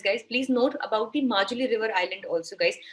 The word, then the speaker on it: Majuli: Please note about the Majuli River Island also, guys. I hope it's pronounced as Majuli. I've heard some people calling it as Mahuli. I don't know. So Majuli, the spelling is Majuli.